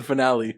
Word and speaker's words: finale: What's the difference? One's proper, one's not. Okay. One's the right way to say it. One has an E at the end of it.